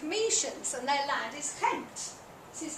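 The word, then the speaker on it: Kemet: is call themselves chians and their land is Kent this is how you pronounce it Kent it's usually spelled sometimes it's spelled with an E there instead of an i Kent and it means the black land that's the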